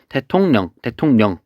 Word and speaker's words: 대통령: 대통령 어떻게 될까요? 발음이 대통령 이렇게 발음이 되죠. 그래서 여기도 마찬가지로 리을이 니은으로 바뀌고 있습니다.